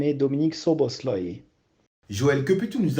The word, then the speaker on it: Szoboszlai: d'abord tué presque parfait au niveau de la prononciation sauf qu'on ne dit pas dominique sopo slime et dominique ceaux bost loyer joël que pu tout nous apprendre sur dominique